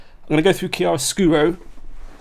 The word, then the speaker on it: Chiaroscuro: I'm going to go through Chiaroscuro. That's how you pronounce it as well, apparently.